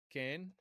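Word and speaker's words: כֵּן: So the first word, ken, is going to, and we have the kaf and the nun. The vowel is tsere. Okay, tsere, a long E vowel historically.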